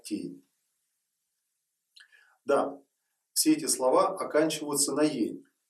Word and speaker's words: Цфъьень: Слово цфень сейчас и пишется, и читается просто как тень.